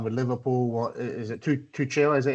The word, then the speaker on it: Tuchel: Tuchel, is it how you pronounce him? Tuchel, yeah.